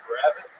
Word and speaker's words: Grabbit: And uh people just kept pronouncing it incorrectly the open mic. So they're adding like Z's on it. Grab it and like it says grabbit sound.